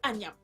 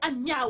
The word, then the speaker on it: Anna: damas la décence immédiatement arrête de m'appeler ania non non c'est anna o nous vivons ensemble depuis tant d'années tu n'es pas capable de prononcer mon nom correctement quelle chance tu en